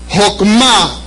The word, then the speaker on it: Jokmah: Jokmah se escribe K de kilo, J-O-K de kilo, M-A. Jokmah.